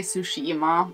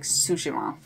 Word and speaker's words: Tsushima: I used to say Tsushima, but I think it is pronounced like Tsushima.